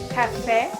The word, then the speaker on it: café: Chimpanzé, Você, The E with an acute accent, like this one, they call it as the acento agudo. It has an open E sound. café, pé.